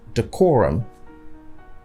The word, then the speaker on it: decorum: Most people say advertisement or advertisement. Some people say derogatory and others say decorum. So these are wrong stress. The proper stress patterns are advertisement, derogatory, decorum.